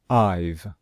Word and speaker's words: I've: So we put an apostrophe and then the letters V, E, and we pronounce it as one syllable, I've.